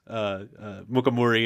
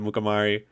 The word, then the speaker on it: Mukamuri: I just realized I said your name wrong twice. Mukamuri instead of Mukamari. There's no right way to say it. Okay. Thank God. Thank God. Like, it's a Shona name. It's a Shona name. I don't even say it the way like my grandmother says it.